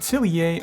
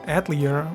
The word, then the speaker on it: Atelier: beginnings in this franchise at celier or atlier however you like to pronounce it has been evolving